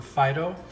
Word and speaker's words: phyto: So I guess that kind of makes sense, the word phyto. There are, and that's spelled P-H-Y-T-O, not F-I-D-O, like phyto.